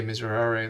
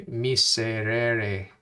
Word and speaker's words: miseri: i will always say miserably like just like whatever just sloppy pronunciation so i gotta to say miseri it's gonna be a bit hard there's no z in latin misery okay so that's